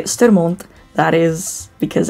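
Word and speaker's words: Sturmhond: Sturmond is how you'd say that. Sturmond. Not Sturmond.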